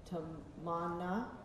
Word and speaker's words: Tamanna: Tamanna, okay, good.